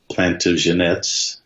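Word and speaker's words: Plantagenet: dynasty's you know the plant of Jeanette's that's the right way to pronounce them which were the French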